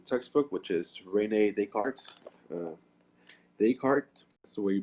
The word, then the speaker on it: Descartes: 9 by the textbook which is rene descartes descartes so where you pronounce it not the cart it's a sprint